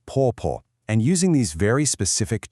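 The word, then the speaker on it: 婆: A wife calls her husband's mother po, pronounced po.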